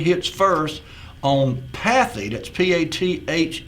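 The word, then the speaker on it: Pathé: first on path that's p a t h e or maybe it's pronounced path looks like there's an accent on the E so we'll say path phonograph records well that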